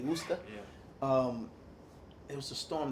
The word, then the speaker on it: Worcester: It's spelled, that city that's spelled Worcester, Yeah. but it's really Worcester.